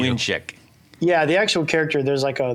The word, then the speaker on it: Mlynczak: So it's Mwyn is how you say it. in Mwyn, Polish. like a W. Mlynczak.